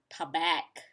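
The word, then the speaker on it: Tabac: So it's supposed to be tea-bag, but for me, I would pronounce it as tabak.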